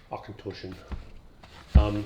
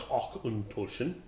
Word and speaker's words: Auchentoshan: According to the propaganda here on the back of the page, in addition to how to pronounce Auchentoshan, Tosh, T-O-S-H, Toshan.